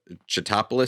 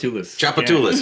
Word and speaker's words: Tchoupitoulas: Yeah, every time I try to pronounce Chatopolis Street, no, I'm still not saying it right. In New Orleans. Tchoupitoulas, yes, there you go.